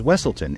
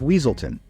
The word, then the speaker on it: Weaselton: funniest moments is when Judy mispronounces his name as wesselton instead of weaselton and he gets really